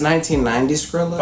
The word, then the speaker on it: 1990 Skrilla: It's 1990 Skrilla. Okay. It's just stylized like the $1.99 Skrilla.